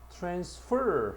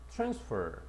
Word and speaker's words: transfer: 여기 보면 동사는 뒤에 강세를 둡니다. 따라서 transfer 하고서 뒤쪽에 가야 되고 장소나 또는 어떤 곳을 이동하거나 옮기다 또는 병을 옮기거나 환승하다라고 할 뜻고 명사는 강세가 앞에 있다. transfer 됐어.